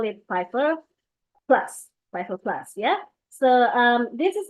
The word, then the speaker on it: 5F1R+: It's not actually 5F1R plus, it is actually Pfeiffer. So it looks like the 5 there is it's obvious. The F1R plus looks like fur.